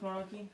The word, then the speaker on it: Margie: think that's Marge, actually. No, it's Should I not. check? No, it's not. It's Margie. Oh! How do you say that name? Margie. Yeah, it's Margie. Margie, I'm saying it right.